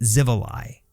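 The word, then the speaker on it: Xivilai: in the comments, but I think we pronounce it Zivi.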